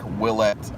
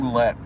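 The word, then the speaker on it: Ouellette: I think for the first year or so, I called him, I remember calling him Oulette for about a month, maybe. And then somebody said, no, it's pronounced Willette.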